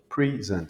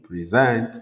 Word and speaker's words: present: ok com j'ai dit pres c'est un nom ok je mets l'accent sur la première syllabe quand je dis present c'est un verbe ok present present present ok les mots comme ça on met l'accent à la première syllab pour les nom et à la deuxième syllabe pour les verbes vous voyez les mot